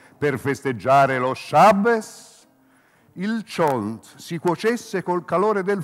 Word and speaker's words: cholent: Chont, monumentale stufato di manzo, si pronuncia chont. Chi lo chiama cholent lo conosce poco e secondo me non c'è da fidarsi, Ugo, come te.